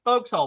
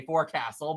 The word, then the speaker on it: forecastle: and everything they're referring to this but it's pronounced folks hole but I still just say Forecastle but yeah there's all kinds of this weird